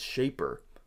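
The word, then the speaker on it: Shapr: guests from this platform it's shaper so it's spelled s-h-a-p-r go check that one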